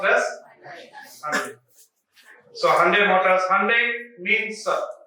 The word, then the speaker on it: Hyundai: So like that, this also, it is not to be pronounced as Hyundai. It is to be pronounced as Hyundai.